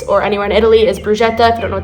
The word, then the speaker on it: bruschetta: Another staple at the Florence or anywhere in Italy is bruschetta, if you don't know what that is, or bruschetta. I pronounce it wrong every time.